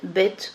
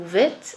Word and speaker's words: Bet: Alors, souvenez-vous, le Bet peut se prononcer Bet ou Vet à l'intérieur d'un mot.